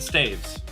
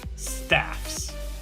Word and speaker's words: staves: is now done I pronounced it staves and the vast majority of musicians do as well those that don't say staffs there are those heathens